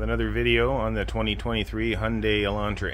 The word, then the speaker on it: Hyundai: statement a while back uh stating the proper pronunciation of it is Hyundai it's not Hyundai it's not Hyundai so yeah just wanted to throw that in